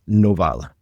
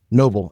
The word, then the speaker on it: Noval: But before we do, I want to introduce our guest who is Novala. Did I get your last name right, by the way? Cousin of Noble. Yep. Noble.